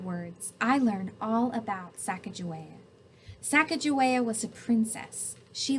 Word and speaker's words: Sacagawea: has a fancy name Sacagawea you say it like this Sacagawea later miss glass has